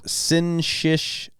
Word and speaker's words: syncytial: Oh, it's syncytial, even though it's spelled weird.